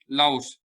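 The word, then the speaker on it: Laos: पे एक कंट्री है जिसका नाम है लाओस, जिसको लाओ बोलते हैं, एस को प्रोनाउंस नहीं करते।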